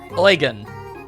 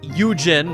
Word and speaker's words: Eugen: I have learned that the way to pronounce the name of the man who was having trouble with his horses is in fact Eugen. Not Eugen or Eugen or whatever the ever-loving